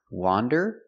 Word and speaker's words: wander: remember the pronunciation difference wander with the open Sound aw wonderand and wonder with the closed sound uh uh uh W Wonder